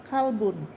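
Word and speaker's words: كلب: Qolbun dengan kalbun beda jauh. Jadi jangan salah antara makharijul huruf kaf dengan qof.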